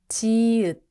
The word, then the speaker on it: 지읒: 아이, 즈, 지읒. Sounds like 즈, like J in jump.